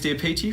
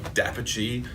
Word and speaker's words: d'Apice: I've got to talk pronunciation. I'm sorry, Dapici. I'm so sorry, Makinson Dapici.